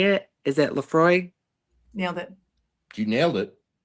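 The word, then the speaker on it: Laphroaig: And you did nail the pronunciation of Lefroy. However, I do accept lamp frog as a answer as well.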